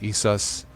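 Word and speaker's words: EaseUS: It's spelled like E's and then us, ESUS.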